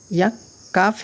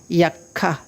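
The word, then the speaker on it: یکہ: এরপর ইয়ে, ইয়ে দেখেন, ইয়ে, ইয়ে কাফে তাসদিদ দিয়ে দিচ্ছে, ইয়েক, ইয়াক, কাফ হে খা, ইয়াক্ষা, এটা কি হবে? ইয়াক্ষা। ইয়াক্ষা মানে হচ্ছে কি আপনার ঘোড়ার গাড়ি। কিসের গাড়ি? ঘোড়ার গাড়ি। গাড়িকে বলা হয় ইয়াক্কা, ঘোড়ার গাড়ি।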